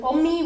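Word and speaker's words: أمي: to say my friend, rhymes with Ommi, which is Arabic for my mother.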